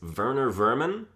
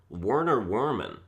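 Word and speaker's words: Werner Vermin: Corrections are equally correct it's a German pronunciation as the character is German they do their double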